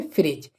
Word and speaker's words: fridge: फ्रिज FRIDGE फ्रिज। तो यहाँ पर भी देखें जो जी से पहले क्या है, डी, तो डी क्या हो जाएगा, साइलेंट, ठीक है। तो इसके लिए क्या पढ़ेंगे, फ्रिज। तो दोस्तों अब बात करने